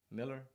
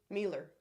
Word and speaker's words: Mealer: County it's unfortunate um Alex how do you say that Miller Mueller it's a shame she didn't win I voted for him who Mealer that's what she said another Super Chat we're